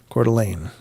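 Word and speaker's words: Coeur d'Alene: Idaho and uh it's it's actually core the like it's spelled D and then it's a l NE but yeah cordelane is the is how it's pronounced and uh that does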